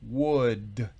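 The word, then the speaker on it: would: escritura con el ops escuchen la pronunciación world sl no se pronuncia en lo más mínimo la l es muda está claro la l es muda en esta palabra no siempre existe en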